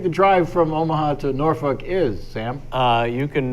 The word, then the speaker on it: Norfolk: in in the Nebraska the show is in norfol Nebraska watch that pronunciation that's how they say it norfol all right yeah how would you say it norfol Norfolk pronounce that that's how it's spelled Norfolk anybody